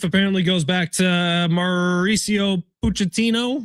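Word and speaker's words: Pochettino: So, this beef apparently goes back to Mauricio Puchettino, right?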